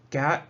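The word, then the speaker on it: khat: the cap plant uh Gat is I think uh it's properly pronounced as if it were g-a-t uh Gat is a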